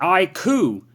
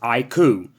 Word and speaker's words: iQOO: Yes, to my understanding, that's how it's pronounced. iQOO. Not IQ, which is what I always thought it was, how you pronounced it, but to my understanding, it's iQOO.